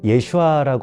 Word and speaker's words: 예슈아: 그 발음 자체에 대해서도요 이게 보면 근원적으로는 이제 예슈아 하는 발음이 본래 발음이 맞죠 근데 이제 그걸 뭐